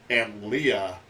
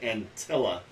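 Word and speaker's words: Antlia: the guys over at Aunt Leah. I've been pronouncing it wrong. I've been pronouncing it Antilla. So it's okay. I did the same thing. It's Aunt Leah.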